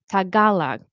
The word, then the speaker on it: Tagalog: it's not called Filipino, Tagalog, I think that's how we say it with the proper stress.